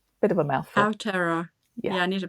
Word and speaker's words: Aotearoa: Actually, I'm going to need you to help me pronounce that properly, Marianne. Did I say that right? Not quite. So Aotearoa. It's the Maori name for New Zealand. Aotearoa. Bit of a mouthful. Aotearoa.